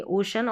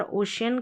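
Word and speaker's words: ocean: ओशन और ओशियन करके भी अगर साउंड निकलता है तो वो भी गलत नहीं होगा। ओशन यहां पर ओ सी ई शुरू में है। अब यहां पर ओस लिखा है। यहां पर ओ श साउंड आ रहा है सी का श। याद रखें अलग से एक्सेप्शन में अपवाद है यह।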